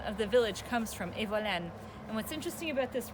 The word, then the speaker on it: Evolène: And the whole name of this river was Evolène, I believe, like that. They pronounce it Evolene, which is like a patois. And this is where the name of the village comes from, Evolène.